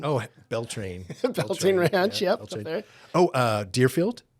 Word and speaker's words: Beltane: It rhymes with Schmeltane. Oh, Beltane.